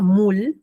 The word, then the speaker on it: moule: Este moule se pronuncia moule porque O-U suena U, moule.